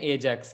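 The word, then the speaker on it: 4Jax: तो वही है अब 4 जैक्स, लेकिन उसको प्रोनाउंस करते हैं एजैक्स करके।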